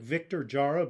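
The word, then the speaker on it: Víctor Jara: A Chilean singer, he's spelled like Victor Jara, but actually pronounced Victor Jara, Victorjara.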